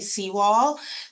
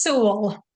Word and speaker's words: Sewell: We have joining us from the RSP team, Sewall. Is that how you pronounce it, or is it Sewell? Thank you for asking, Farah. It's Sewell. Sewell, Sewell.